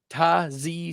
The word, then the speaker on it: Tyjae: player Tazz Spears that's how you're supposed to pronounce it by the way Taz Spears you guys